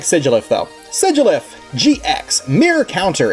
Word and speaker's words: Sigilyph: and win the game and sigoulif however you want to pronounce it i guess there's alternate pronunciations for that i like sigilyph though sedulif gx mirror